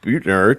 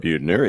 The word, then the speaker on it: Buettner: it all the time it's beauty queen and think about the antithesis of one which is me then that will help